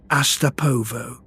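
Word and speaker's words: Астапово: Say the name to yourself once, softly, the way the world was about to learn it. Astapovo. Four syllables of step, railway, nothing.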